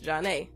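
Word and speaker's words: Zhané: DJ went gold and was eventually included on their debut in February '94, pronounced Janae.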